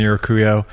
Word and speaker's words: Urcuyo: But, your last name is the hardest to pronounce name. It is impossible. So my full name is Urcuyo.